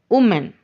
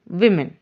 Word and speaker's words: women: How we commonly pronounce that? Woman. But it's not correct. The correct pronunciation is women.